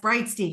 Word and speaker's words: Breitstein: I have Brightstein with us today. Am I pronouncing that right? Yes, Brightstein.